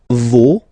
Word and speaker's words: vos: Vos, you don't pronounce it. Leur. Okay, so if we say that one more time, it's me, te, se, and then nos, vos, leur.